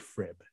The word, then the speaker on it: FRIB: laboratory the facility for rare isotope beans or f rib i know it looks like frib it's pronounced f rib you just have to trust